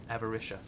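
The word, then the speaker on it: Avaritia: every Shia avaricia I'm I'm joining the last two into one syllable avaricia the pack there you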